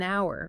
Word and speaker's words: hour: An interesting book, an hour, because hour starts with an sound. The H is silent, but it's a university because university starts with a Y sound, which is like a consonant sound.